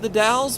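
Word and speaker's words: The Dalles: to the dowels and I know it's pronounced the dowels because my battle buddy told me so who's from the area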